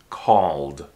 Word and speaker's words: called: verb call called called Don't pronounce the E don't say call it it's just one syllable called what do you call